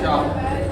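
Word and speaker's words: 茶: When an emperor of the Han dynasty ruled, the tea should be pronounced cha, a word still used in the UK until quite recently as slang of cup of tea.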